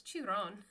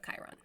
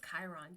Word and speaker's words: Chiron: serious or not, but he was like, what's Chiron? Instead of Chiron. So Chiron is spelled Chiron. And my son and I were like, because my son's a big Percy Jackson fan. He's like, no, that's Chiron, Dad.